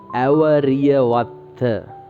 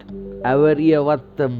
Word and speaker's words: Awariyawaththa: That name is Awariyawaththa. If you can't pronounce this name, I will make this with spellings.